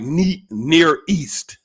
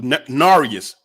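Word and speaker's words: Nearest: brother narius green and when you read his name it looked like near east and and the way they pronounced it was gnarius narius green and he was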